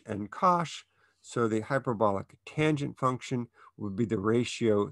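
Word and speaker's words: tanh: functions using cinch and kosh so the hyperbolic tangent function would be the ratio sinch of x over cosh of x and we pronounce that tange of x and its graph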